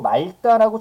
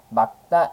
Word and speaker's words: 맑다: 되는 건 이런 거 우리가 일상적으로 맑다라고 잘못 바라만한 경우는 있는데요 얘는 정확하게 어떻게요 날씨가 맞다 이렇게 발음해야 돼요 그래서 이런 발음들